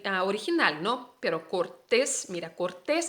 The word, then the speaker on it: cortés: no pero cortés mira cortés es una palabra aguda terminada en ese obligatoriamente lleva lentes sí